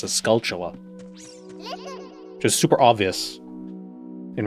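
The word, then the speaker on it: Skulltula: It's a scultula, which is super obvious in retrospect, but for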